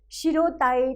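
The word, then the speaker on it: 白たへ: ときには白たへと書きます。でも読むときには白たえと読みます。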